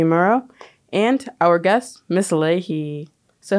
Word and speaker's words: Leahy: your name wrong so how do you like pronounce it Ley Ley okay perfect okay um so like what's